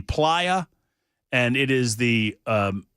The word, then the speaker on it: playa: in just a second, the uh P L A Y A, it's pronounced the PIA, and it is the um desert floor in the Black Rock Desert.